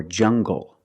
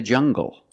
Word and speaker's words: jungle: Or jungle, tangle, and angle. These are pronounced with the hard G sound. Example, monkeys live in the jungle. Make the hard G sound, jungle. So you have the nasal sound and the hard G, jungle, go.